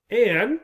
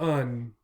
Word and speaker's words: an: An can be pronounced an or un. Again, in normal speaking, un is most common, right?